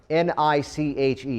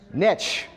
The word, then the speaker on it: niche: So the second part of that word, N-I-C-H-E, if we've hung out before, stay out of this. How is that word pronounced? Niche. Why, my friends? Niche. Because niche rhymes with rich.